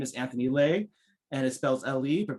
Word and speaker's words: Le: public service internship program my name is anthony lay and it spells l.e but pronounced delay as a legitimate your best friend